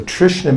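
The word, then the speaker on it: तृष्णा: it and when we're translating in English it makes an SH sound so Trishna means thirst so this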